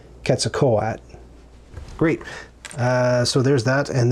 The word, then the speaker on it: Quetzalcoatl: So I'm like, I want to pronounce that correctly, and I believe it's pronounced Quetzalcoatl.